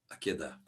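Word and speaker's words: עקדה: Tá a pronúncia tá certa. Ela aquedá.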